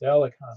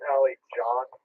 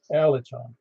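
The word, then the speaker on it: Alican: That's Alicon. And you pronounce it Alicon, is that correct? It is Ali John. Like the C in Turkish is kind of like a J in English.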